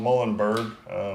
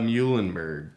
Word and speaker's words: Muhlenberg: No, let's go Muhlenberg. Eulenberg. Is it Muhlenberg or Muhlenberg? I don't know. Doesn't matter. It's in It Pennsylvania. rhymes with mule, so.